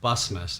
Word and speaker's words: Bussanmas: Bussanmas. Bussanmas. Yeah. Gotcha. It was spelled a little strange, so I wasn't even gonna try. The N is silent for some reason. Gotcha. But, Bussanmas is the way to pronounce it.